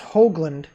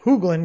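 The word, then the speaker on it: Hoogland: it was originally spelled h-o-a-g-l-a-n-d because it's pronounced hoagland people call it hooglen because of the two o's and the tale i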